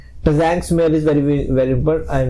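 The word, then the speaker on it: Tzanck: Zhang smear is very very important, and sometime this T इज a silent, so Zhang smear कहते हैं कई बार।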